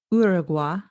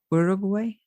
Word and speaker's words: Uruguay: Burma, 1922, Ecuador, 1929, South Africa, 1930, Brazil, Uruguay. That's how Americans pronounce it, but it was Uruguay. I am also American, so I call it Uruguay.